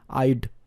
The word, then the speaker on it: I'd: আই হ্যাডকে যদি সংক্ষেপে লিখতে হয় আমরা লিখি HA উঠে গিয়ে অ্যাপোস্ট্রফি ডি হয়ে যায়, আইড। ঠিক আছে, আই এর পরে ডি এর একটা উচ্চারণ থাকে, আইড ওয়ার্কড।